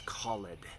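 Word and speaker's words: callèd: By the way, if you see that little declension mark over the last E in called, it's not called, it's called, to give it that extra syllable.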